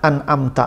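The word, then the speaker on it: أنعمت: itu yang diberi nikmat an'amta alaihim itu gak ada Mad pada kata an'amta itu cepat bacanya anamta kalau maghdub yang dimarahi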